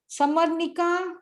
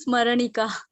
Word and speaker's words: स्मरणिका: समरनिका, यस, समरनिका बोलो। समरनिका बोलो please. समरनिका, मैंने अनम्यूट कर दिया, फटाफट बोलो, टाइम हो रहा है। समरनिका, यस, बोलिए। हेलो। हाँ, हाँ जी, हाँ जी। Pronunciation is स्मरणिका।